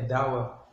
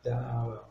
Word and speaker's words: Dowel: É Dowell. Antes Dowell? É, é com A. Dowell. Dowell. Tá certo. Essa palavra Dowell, Dowell. Donald. É, se escreve Dowell. É, se escreve D-O-W-E-L, mas pronuncia Dowell.